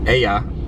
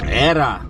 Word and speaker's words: era: Era. What are you saying? Era. E-R-A. Say it like- Era. Oh. See, when you roll your tongue, that sounds like an L.